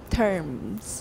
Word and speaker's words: terms: 词首有一些M不发音, but if you see an M at the end of the word, say it. And you probably have a habit of saying things like turns instead of terms, that's Taiwan English.